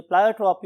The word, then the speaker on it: pleiotropy: यस my dear students, अगर आप pronunciation की बात करें तो बहुत से लोग इसे प्लायोट्रॉपी और बहुत से लोग इसे प्लियोट्रॉपी भी बोलते हैं.